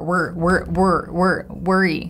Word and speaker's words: worry: Words like work, world, worry, to pronounce them correctly, you could imagine that there is no vowel sound, that it's no like R sound, that is literally W and then R, worry, you know, worry.